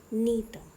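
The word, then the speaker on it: Gnetum: इनको थोड़ा ध्यान से देखो, इनकी प्रोनाउंसिएशन ध्यान रखना, गिंको एंड नीटम, ओके।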